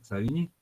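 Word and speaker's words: Savigny: está escrito aquí pero según las personas versadas en el idioma alemán se pronuncia entonces es carbón savigné y en algunos textos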